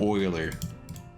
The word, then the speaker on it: Euler: Next, you're going to name a guy Euler, but then pronounce it Oiler.